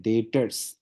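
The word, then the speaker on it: debtors: नाम भी आता है डेटर्स डेटर्स टर जो प्यार से बोलते है ना बी साइलेंट है तो उसको हम प्यार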